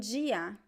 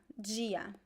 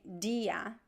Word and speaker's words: dia: word ah you mean gia gia so this is interesting the d i when you have the letter d in portuguese before the letter i we pronounce it as g g this is the